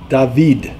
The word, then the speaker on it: David: baby Ezra Shalom catskil say dahveed it's how you pronounce it in Hebrew dubby Mamluk ah that's